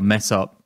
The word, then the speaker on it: Mesopotamia: But yeah, I mean, his constituency, Mesopotamia or mess up, people say that because it rhymes with bless up, which is what all the Rastas say around there.